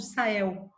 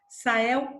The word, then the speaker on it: Sahel: E eles vão expulsar esses tuaregues para o norte do Sahel. Sahel ou Sahel. Você encontra também as duas pronúncias. É mais comum falar Sahel, tá? Mas você encontra também com a pronúncia Sahel.